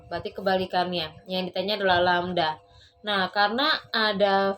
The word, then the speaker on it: lambda: Ini dibacanya lambda.